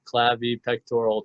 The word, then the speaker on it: clavipectoral: This is the clavi pectoral triangle. Probably mispronounced that, but that is the triangle that's formed from in between the clavicle and the pectoral girdle.